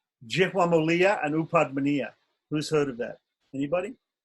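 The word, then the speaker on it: Upadhmānīya: pa or a pa, it's called Upadmaniya. And it's pronounced like fa, like F, right?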